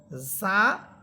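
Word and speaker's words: ظاء: জিহ্বার অগ্রভাগ সামনের উপরের দুই দাঁতের আগার সাথে লাগবে জাল জাল আর যা জিহ্বার অগ্রভাগ সামনের নিচের দুই দাঁতের আগার সাথে লাগবে তাহলে আমরা জাল হরফেরটা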